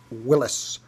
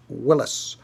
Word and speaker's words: Willys: name is willis it is pronounced willis mr haynes has said